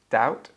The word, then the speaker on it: doubt: So silent B in all cases. Debt. Oh, debt. Doubt.